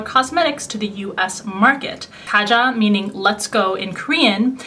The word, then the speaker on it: Kaja: It's spelled K-A-J-A, but it's not Kaja, it's Kaja.